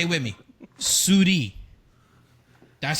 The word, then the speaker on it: souris: Souris.